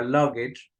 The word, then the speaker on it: luggage: En la palabra luggage, como se dan cuenta, aquí hay un apostrophe, lo que significa que el acento o el stress está en la primera sílaba.